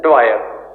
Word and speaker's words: Dwyer: ठीक है, lieutenant governor है माइकल ओ ड्वायर, DWER। ठीक है, गोलियां जिस बंदे ने चलाई वो था आपका commander general डायर, spelling DYER, general डायर, ये है ड्वायर, DWEYER या DWYER, जनरल ड्वायर, DWYER।